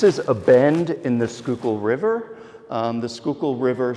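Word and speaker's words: Schuylkill: so uh you know someone from Pennsylvania when then when they pronounce skookul correctly um I happen to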